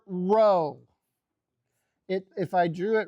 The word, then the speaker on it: Rho: That right there is the Greek letter row. It if I drew it really carefully, it would look a little bit like that. Okay, Rho, right? Is how you pronounce that, right?